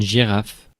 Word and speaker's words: girafe: So the same in English, but not the same pronunciation, because in French, you pronounce it Une girafe.